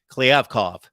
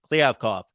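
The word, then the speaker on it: Kliavkoff: haven't heard it for weeks then it's gone cleavkov there it is clear cough he was at the SMU basketball game the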